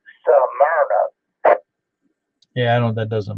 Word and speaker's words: Smyrna: Paul, the people that born and raised around here calls it Smyrna. People that moved in and don't know how to pronounce it call it Smyrna.